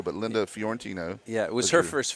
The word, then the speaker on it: Linda Fiorentino: story for everybody Linda fantino which gets pronounced mispronounced probably more than any name out there call her Florentino but Linda fiorentino yeah it was her first film yeah and